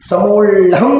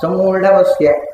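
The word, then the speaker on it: ಸಮೂಢಮಸ್ಯ: ನಾವು ಅದು ಒಂದೇ ಆಗ ಸಮೂಡಮಸ್ಯ ಸಮೂಂ ಅಲ್ಲ ಸಮೂಡಂ ಅಲ್ಲ ಸಮೂಡಮಸ್ಯ ಮತ್ತು ಒಟ್ಟು ಮಣಿ ಒಂದೇ ಅಕ್ಷರವಾಗಿ ಹೇಳಿದೆ ನಾವು ಇದು ಅದರ ಕರೆಕ್ಟ್ ಪ್ರೊನೌನ್ಸಿಷನ್ ಇದೆಲ್ಲ ವೇದವ್ಯದ ತಗಲ್ಲ ಅದಕ್ಕೆ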